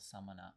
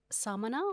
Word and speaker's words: Samāna: What you're hearing there between those two words, Samana and Samana, is just one vowel, the middle A, being lengthened.